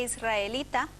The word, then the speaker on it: israelita: ¿Por qué alrededor e israelita se escriben con R, pero se pronuncian con R? como ocurre con la R en posición inicial de palabra en las palabras radar, ratón, ruidoso, se escribe simple pero se pronuncia doble. La grafía simple se mantiene aunque se haga R tras la L y la S, alrededor israelita.